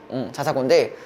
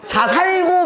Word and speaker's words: 자사고: 북일고에 있는 애인데 그러니까 자사고인데 저랑 딱 3개월 왜? 북일고에 있는데 자살했다고 들어. 살있고 자사고 맞아요. 자살고 말고 자사고 제가 개놀랐다 이거. 자살고 말고 자사고. 이래서 이제 발음을 잘해야 돼요. 자사고가 자살고가.